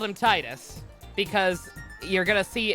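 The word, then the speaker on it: Tidus: uh this is Titus the canonical pronunciation is Titus in Japanese his name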